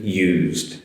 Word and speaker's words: use: Whereas the use, the S is a Z sound. So notice the difference, used to, use, use.